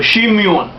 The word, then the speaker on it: Simeon: the clan clans of simeon or shimyun as uh and sometimes pronounced so simeon was one